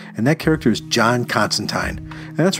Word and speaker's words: Constantine: one it is, but John actually corrects someone and shows him how to pronounce his name, and he tells him his name is Constantine.